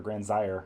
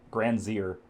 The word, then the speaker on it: Gran Syre: stop by there after grand slayer or grand zire i'm gonna start pronouncing it correctly granzier i don't think i've